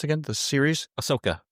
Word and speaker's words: Ahsoka: We were just talking about the that in regards to Anakin with the uh was it the Sakoka? How was he pronounced again? the series Ahsoka. Ahsoka, I'm sorry.